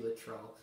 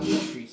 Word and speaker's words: Latrell: I pronounced his name wrong the whole time. It's actually Latrell. Not Latrice. I said it was Latrice before.